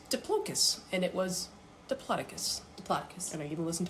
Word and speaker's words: Diplodocus: Okay, and so then I looked up, how do you pronounce Diplodocus? And it was Diplodocus.